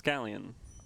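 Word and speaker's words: Galien: Yeah, it's Galleon. I'm very upset. I actually call him Galleon, Galian, whatever. But then I heard you complain, and I've just forced myself to adopt the other pronunciation.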